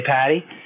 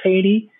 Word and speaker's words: Pady: I mean, everybody says it, but my last name is actually pronounced Pady, but all right. 9 out of 10 people say Pady. I stand correct. Just so, because you know, we're going to be speaking again, and you may introduce me to somebody else, and I would love for you to say it like that. My grandfather used to say, Pady like lady.